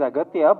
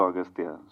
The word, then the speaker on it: Aghathiyaa: only no it is aatya but in the film uh your name is pronounced in different ways austa yeah in both ways it is pronounced it yeah it's aatya and also austa so I don't know